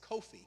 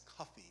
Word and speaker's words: Kofi: that's born on friday it's kofi kofi the former secretary general united nations was kofi amin we anglicize that or phonetically we spell that and we pronounce it as coffee or cuff there are tens